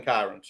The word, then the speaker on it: Kairens: Kevin Kairens like Byron with the K is what you told us that night.